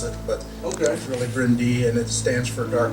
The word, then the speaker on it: Bryn Du: in Welsh which we it looks like it's bryndl that's how we pronounce it but oh guys really brindy and it stands for dark Hills he named